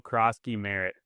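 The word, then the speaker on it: Croskey-Merritt: Bill Kroski Merritt.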